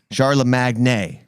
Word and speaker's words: Charlamagne: charlemagne and i i i spell it how i pronounce it charla magni sharla magnay so charla magnay tha